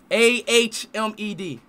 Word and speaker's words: Ahmed: My name is Ahmed. Huh? Ahmed. A-H-M-E-D.